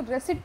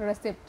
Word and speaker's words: receipt: between the रेसिड एंड इसको पी आंश silent होता है तो इसको रेसिट पढ़ते हैं नॉट रेसिप P silent okay based on difference